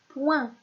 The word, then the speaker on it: poing: O-I-N, j'obtiens la syllabe point, comme le mot le point de la main. Et dans ce mot-là, nous avons une lettre muette, c'est la lettre G.